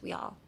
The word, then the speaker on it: we all: Can you pronounce we all? We all. all になるんですね. it sounds like okay, so if you can't speak English, we all. It's not all.